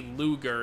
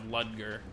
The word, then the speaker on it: Ludger: And it's really funny to me that they say Luger instead of Ludger. Like they don't even, they pronounce like Looger.